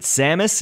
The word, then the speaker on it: Samus: I know that you could also pronounce it Samus, and we will get to that in a second. The way that I pronounce it is Samus, so please forgive me if you pronounce it the other way.